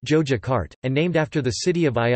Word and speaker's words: Yogyakarta: In Javanese it is pronounced Jojakarta, and named after the city of Ayodhya in Javanese Hindu mythology.